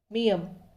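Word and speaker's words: 미음: Next मियम। मियम इसका उच्चारण होगा शब्दों में म।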